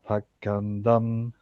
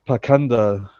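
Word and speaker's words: pāṣaṇḍa: The word pakanda used in this verse is sometimes pronounced prashanda.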